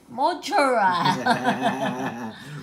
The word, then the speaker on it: mozzarella: How do you say it? Mozzarella. Mozzarella. Roll the tongue.